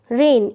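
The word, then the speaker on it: reign: of king Krishna Dev रेन इसमें क्या है जी साइलेंट है रेन होता है शासन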